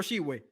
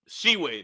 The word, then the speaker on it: Tshiebwe: Oscar Tshiebwe. Tshiebwe, that's how you say his last name.